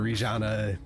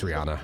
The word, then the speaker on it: Rihanna: And then you're gonna see Rihanna, or Rijana. It's Rihanna. I'm tired of trying to pronounce the J.